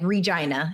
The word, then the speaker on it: Regina: And the prairie like Regina is the city that I'm from. The slogan is the city that rhymes with fun.